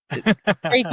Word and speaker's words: Crake: Yeah, my teammates call me Crack anyway, so it's Crake is correct, but Crack is what I tend to get called.